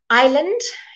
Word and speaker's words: island: aisles were very narrow Island you know this one a lots of you might be tempted to think of is 'land but it's not island or Islam but as